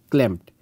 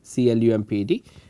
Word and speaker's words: clumped: That you will see cells all the way like this, and some cells are clamped, right. So the correct pronunciation is clumped, C-L-U-M-P-E-D.